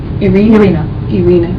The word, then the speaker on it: Irina: And it's Irina? Yeah, I've been saying it wrong. Irina.